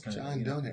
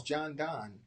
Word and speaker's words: Donne: Oh, is that how you pronounce his name? I always thought it was John Donne. Maybe it is. I don't know, but I mean, I thought it was just a rhyme, rhyme together. John Donne.